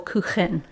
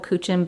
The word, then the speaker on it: Kuchen: It's actually pronounced apple Kuchen because it's a German dessert.